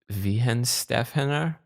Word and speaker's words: Weihenstephaner: Weihenstephaner?